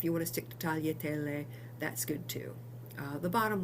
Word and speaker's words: tagliatelle: And it's something like the lia in million. So if you can say million, and I know you can say tagliatelle.